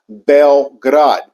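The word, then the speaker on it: Beograd: that's actually how you say it it's actually pronounced belrad and the actual translation in that uh word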